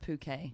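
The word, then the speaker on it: Phuket: annoyed with having to explain to every single British lad tourist who comes that it's pronounced puket no there are no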